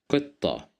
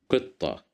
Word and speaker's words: قطة: قطة, قطة, قطة, which means a cat, as you see. Here we have the letter qaf controlled by the kasra sound. That's why we pronounce it as qi.